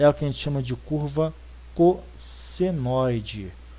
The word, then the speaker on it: cossenoide: gente chama de curva cossenoide. Cossenoide, o nome é feio? É, mas é assim que se escreve, é assim que se fala, tá?